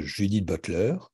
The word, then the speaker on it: Judith Butler: Est-ce que, si en France je parle de Judith Butler, pour le prononcer plutôt selon la langue anglaise, est-ce que quand je parle d'elle, je me contente d'importer Judith Butler en France et en français?